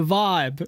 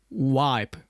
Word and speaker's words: vibe: say it's it's a vibe the terrible thing in Germany is like most of most of the young people here are like it's a wipe that's how they pronounce it nice I love it